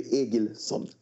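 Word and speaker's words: Egilsson: Is it pronounced Gilson or Ailson? It's about, I think because a Nordic name is Egil, so it should be Egilson.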